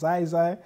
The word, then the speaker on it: Ziezie: oh, okay, cool, so he's young, his name's pronounced Ziezie, it's like kind of, they're just reminding themselves